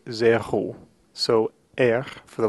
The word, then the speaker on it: zéro: The number zéro has what we call an aspirated R. And an aspirated R simply means that it's an R in which we feel air passing through the throat.